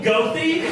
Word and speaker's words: Goethe: How do you say it? Goethe. Is that how you say it, Goethe? Yes. Really? Oh, okay. I thought it was Goethe.